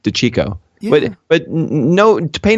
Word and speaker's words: DeCecco: You would think it would be DeCecco, and that's all. That's what Strick kept saying. But I said no. It's DeCecco.